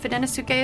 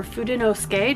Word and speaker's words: Fudenosuke: tombow is the brand fidinasuke is the product line or fudenosuke depending on how you pronounce it and this one is